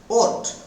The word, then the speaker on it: ought: தெளிவாக விளக்குகிறேன் பாருங்கள் பாருங்க ஓர்ட் ஓர்ட் நாட் ஆர்ட்னே சொல்லாதீங்க vote is a modal verb ஓர்ட்